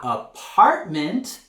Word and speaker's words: apartment: American English we say apartment instead of flat our apartment this isn't your apartment in Spanish depart and in the word apartment uh we're going to raise our intonation on that second syllable apartment our apartment our